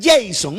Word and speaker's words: Jasón: Jasón dice, vea, algunos lo pronuncian Jason. No, eso no es problema.